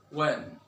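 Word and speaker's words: when: ও যদি না থাকে তাহলে এইচ এর উচ্চারণ হবে না, যেমন what, Y, ওয়েন, war, etcetera.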